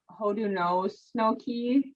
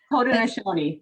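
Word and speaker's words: Haudenosaunee: stephanie or laura please correct me if i mispronounce it um could you explain what ho do know snokey is hoda nishoni thank you that's the name that we call ourselves the original people and hoda nashoni is the name that uh means people of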